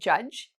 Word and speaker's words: judge: It's similar to a lawyer, not exactly, but if you know the word judge, we don't say judge, okay? We don't pronounce the D.